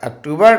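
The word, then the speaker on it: octobre: ई का उच्चारण नहीं है, केवल R तक का उच्चारण है.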